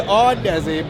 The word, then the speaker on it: Audeze: You can check them out at Audeze. Oh, sorry, Audeze. I keep getting the name wrong.